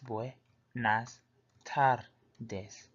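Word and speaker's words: buenas tardes: buenos dias good morning when I started this pronounced bonus tardes boy nice Todd days which means good afternoon buenas noches buenas noches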